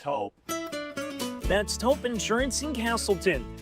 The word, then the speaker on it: Toop: Say it right. That's T-O-O-P. That's Taupe. Oh, it's Taupe.